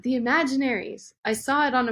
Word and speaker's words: The Imaginaries: I think that uh he nailed it the imaginaries it's funny though because um I can't tell